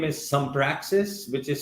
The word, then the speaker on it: Sumpraxis: So it's my company's name is Sumpraxis, which is spelled as SUMPRAXIS.